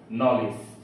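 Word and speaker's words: knowledge: ইজিই নলিস তো এখানে কে এন একসাথে সংযুক্ত হওয়ার কারণে এখানে আমরা দন্তন নয় প্রতি উচ্চারণ করেছি অর্থাৎ কে বাদ দিয়ে এন এর উচ্চারণ করেছি no knife need নলেজ সি you next video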